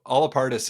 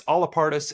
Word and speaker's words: Allapartus: So it's Allapartus, it's Allapartus. It's how you want to pronounce it. So however way you want to pronounce it is the correct way.